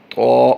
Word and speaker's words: ط: ضاد، طا طا طا، توئیں نہیں پڑھتے، اس کو طا پڑھتے ہیں، طا طا طا۔ طا بھی حروف مستعلیہ